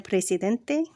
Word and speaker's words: presidente: El presidente, excelente, importante, el elefante, diferente, inteligente. Note, words that end in ENT or ANT are accented on the next to last syllable. Example, presidente. The letter G is pronounced